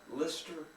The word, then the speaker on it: Leicester: Lister? Leicester. How do you spell it?